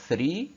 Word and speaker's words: three: أما كلمة three three three 3 يعني 3، هنا ال TH اتنطقت ايه؟ اتنطقت س.